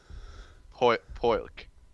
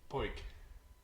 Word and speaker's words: Poik: Poilk. Poik. Just Poik. Poik. Okay. You don't pronounce the L.